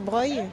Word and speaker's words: Broglie: et la place Broglie. Que Morgane dit que ça se prononce Breuil.